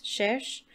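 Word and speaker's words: cherchent: I don't think you pronounce it like the ENT. It's cherche.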